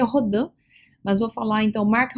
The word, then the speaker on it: Rodin: Mark Rodin, ou Rodin, como queira pronunciar, o certo seria Rodin, mas vou falar então